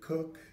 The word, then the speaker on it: Koch: Yes, I'm Koch. That's K-O-C-H. I always have to spell it because pronounce it many different ways.